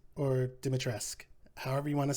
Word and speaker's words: Dimitrescu: Spoiler alert, I didn't, but it's pronounced Lady Dimitrescu or Dimitrescu, however you want to say it.